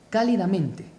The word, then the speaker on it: cálidamente: a la antepenúltima sílaba y la mayor fuerza de voz está en K, cálidamente. Se debe acentuar.